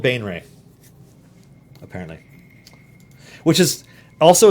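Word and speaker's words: Baenre: Pronunciation guide. All right. Bum bum bum bum bum bum. Jarlaxle Bainra. Jarlaxle Bainray.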